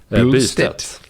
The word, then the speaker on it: Bystedt: How do you say it? Bystedt. There's no L though. Where are you getting the L? Bystedt.